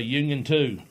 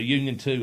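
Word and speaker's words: Unioto: And he said, "Bobby, just say Union Two." That's what it is. Basically, so it's at the high school, the Union 2 High School there.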